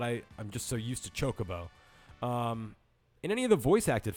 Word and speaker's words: Chocobo: You did put the accent on the second syllable, so Chocobo, not Chocobo.